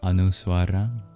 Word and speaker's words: anusvara: This is a pure nasalization, a very sacred sound called the Anuswara.